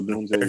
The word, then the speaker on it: Odunze: dark horse pick, correct me if I'm wrong, Odunze? Yeah. Romeo Odunze, yeah.